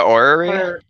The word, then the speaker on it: orrery: The orrery.